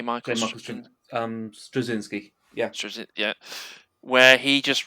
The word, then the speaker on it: Straczynski: kicks in with I'm going to pronounce his name wrong now. Is it Stravinsky? J. oh, J. Michael Michael Straczynski, yeah, Yeah, where he just writes them all, doesn't he?